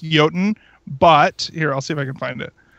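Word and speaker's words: Jötunn: So, for those of you who are too uneducated to know the real pronunciation of this game, it is Jotun. For me, it is now Jotun.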